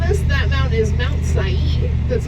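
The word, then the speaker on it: Siyeh: And then straight in front of us, that mountain is Mount Said. That's spelled S-I-Y-E-H.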